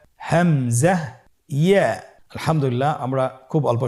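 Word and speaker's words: ء: হামজা হরফটি উচ্চারণ ক্ষেত্রে বারিক করে উচ্চারণ করতে হবে এবং এখানে টেনে পড়া যাবে না, দ্রুত পড়তে হবে। আপনারা আমার সাথে বলুন হামজা। হামজা।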